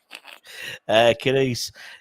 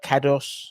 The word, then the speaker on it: Kudus: Kudus. You got to be Kudus, not Kados. It's got to be how it's spelled. Kedus.